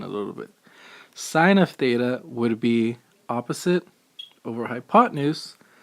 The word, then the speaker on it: theta: This theta right here, it's that sign, it's pronounced theta, pronounced and written like this.